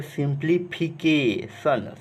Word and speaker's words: simplification: तो पूरा का प्रोनाउंसिएशन कैसे करेंगे, सिंप्लीफिकेशन, सिंप्लीफिकेशन, यानी कि सी को क पढ़ रहे हैं।